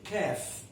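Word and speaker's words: كاف: Next letter is called Kaf.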